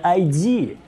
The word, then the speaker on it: id: И я думаю, Bethesda и ID будут делать вот что-то вроде такого же. Кстати, сразу здесь надо рассказать людям, что название этой компании произносится ID.